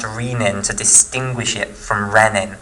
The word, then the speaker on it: renin: is riemann okay now really this should be pronounced to riemann to distinguish it from rennet which it has the double n here and the single n here okay but people often pronounce this as a renin rather than rena now this lemon or riemann